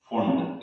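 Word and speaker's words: Pfund: तो पहला आपने पढ़ा था लाइमन, सेकंड है बामर, तीसरा है पास्चन, फोर्थ है ब्रैकेट, और फिफ्थ है फुंड, इसमें पी साइलेंट, और सिक्स्थ होता है हेमफेरी, हमारे कोर्स में।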